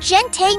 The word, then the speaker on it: gente: The word gente means people, but it is not pronounced like English gentle with a soft J sound.